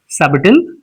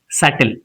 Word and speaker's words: subtle: comb comb comb and this is not subal it is subtle it is silent here and it is not